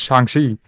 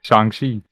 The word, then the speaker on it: Shang-Chi: it was shang shi in the movie they're like they call him shanxi no in the english no when they said that's wrong it's song c so i was saying the right the whole time when he says his